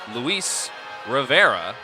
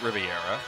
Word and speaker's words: Rivera: the Atlantic Cape side number five Luis Rivera not Riviera and Jalen Hudgens not